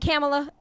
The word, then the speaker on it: Kamala: You pronounce it Kamala. That's how you pronounce her name. Kamala. Kamala, like like Kama, Pam, Kamala. I say like Kamala. COMMA, Kamala. and then La.